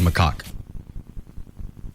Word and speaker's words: macaque: How do you actually pronounce it? You got it right. It's actually called macaque.